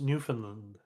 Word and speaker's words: Newfoundland: It's actually pronounced Newfoundland.